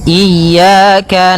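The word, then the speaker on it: إِيَّاكَ: Pada lafal ya, ini hati-hati dalam pelafalannya. Ada dua kesalahan yang sering terjadi. Yang pertama, yaitu dia memanjangkan i ya, nah seperti itu. Harusnya, dia eh ditekan dan dilembutkan. Iyyaka, iyyaka.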